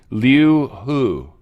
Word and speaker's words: Liu He: She says this Liu Hu. You've never... H-E. Hu. She said like who, something like that.